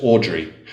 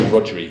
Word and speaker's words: Rodri: Rodri, it's a Welsh name. Okay. A lot of Americans would pronounce his name as Audrey.